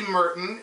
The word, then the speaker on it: Murton: So I got tagged by Kelly Merton. Last name is M-U-R-T-O-N. And I pronounced it properly, Kelly, even with a mouthful of metal.